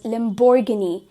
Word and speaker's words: Lamborghini: here in the image, इसे हम pronounce करेंगे as Lamborghini. Lamborghini. Lamborghini becomes the correct pronunciation of this particular car brand.